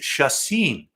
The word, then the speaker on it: Chacín: Was it Chacin? Chacin, how do you say that? And then we finally got the word. Oh, it's Chacin.